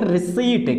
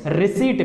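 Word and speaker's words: receipt: सो इसको हम प्रोनाउंस करेंगे यहाँ पे रिसीट. क्या प्रोनाउंस करेंगे? रिसीट. पी को छोड़ दिया जाएगा यहाँ पे, पी इज साइलेंट.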